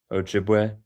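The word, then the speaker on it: Ojibwe: How do you say this? Ojiua. Ojiway. Ojiway.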